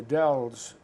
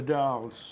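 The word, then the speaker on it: Dalles: was what Sylvia calls the Dells and the dolls the dolls the dolls DAL LPS there's Massachusetts pronunciations and this Brooklyn and there's out west but how she got dolls out that's the way it's spoken out there many of the buildings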